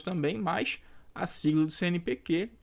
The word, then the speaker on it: CNPq: aparecer até uma letra minúscula Tá mas eu pronuncio CNPQ letras isoladas também mas a sigla do CNPQ é com o q minúsculo beleza jogo é